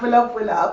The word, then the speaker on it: Bulabula: It just doesn't have the H as the Xhosa tradition. But when you pronounce it, you say Bulabula. Bulabula. You pronounce it as if there was an H, but you write it as if there was no H.